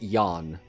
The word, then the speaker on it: Jean: Jean is pronounced Yan.